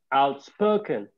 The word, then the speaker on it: outspoken: Outspoken. A stress on the second syllable, right? Spoke. Yeah.